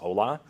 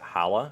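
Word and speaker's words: hola: spanish and it says ola but you still have english as a language then i might pronounce it hala instead of ola which is absolutely not what's intended unless you're you know getting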